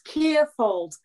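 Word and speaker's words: Kierfiold: It's Kierfold. It's spelt K-I-E-R-F-I-O-L-D.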